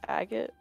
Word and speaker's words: agate: the dragon spider region um it's pronounced agate but it's okay are